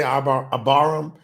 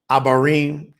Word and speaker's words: Abarim: abarim so so aaram some people say AB aaram abarim I think that's a better pronunciation abarim sign Nam Hebrews